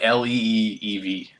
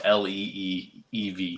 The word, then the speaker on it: Liev: Like Leeev. That's Liev. No, but it's pronounced Leeev.